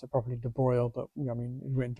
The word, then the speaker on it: de Broglie: calculate the and I should be professional and pronounce it properly de Broglie, but I mean it went to Broglie.